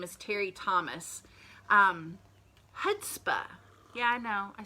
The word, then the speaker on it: chutzpah: The C is silent.